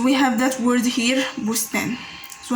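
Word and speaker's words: بستان: So we have that word here, bustan. So how we pronounce it like that?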